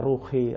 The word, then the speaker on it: ruhi: Pak selamat khususan ala arwahim Bah jangan seperti itu bacanya khususan ala ruhi ruhnya Jangan arwah karena arwah itu bisa jadi Jin gitu e jadi tidak